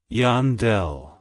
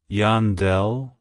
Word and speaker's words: Yandel: States it's pronounced as Yandel Yandel Yandel to pronounce it correctly emphasize the Yan and then smoothly transition into the Dell avoid emphasizing the D